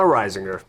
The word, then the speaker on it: Reisinger: I gotta pull my head out of my Reisinger. Yeah, you pronounced it correctly too. Yeah. That's Right. It's like Singer. Rhode That's Island. good. Reisinger.